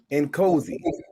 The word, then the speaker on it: Nkosi: An 8 and a 9 for the opening round for Rio Noski. I'm sorry. He said Noski. Nkosi. I always misspell that.